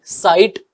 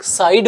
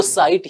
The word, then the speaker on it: site: सबसे पहले देखिए इसकी स्पेलिंग SITE, साइट। इसको लोग साइड बोल देते हैं कि आज तो वो साइड पे काम करने, वो साइड नहीं होता है, वो साइट ही होता है।